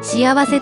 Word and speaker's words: 幸福: で訪問いたします幸福と書いて幸せと読むものすごく良い天命だ